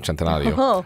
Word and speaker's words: Centenario: 3, the Lamborghini Centenario, because you have to pronounce Italian, Centenario. I actually had to rehearse this, because when I knew what it was, I had to sit down.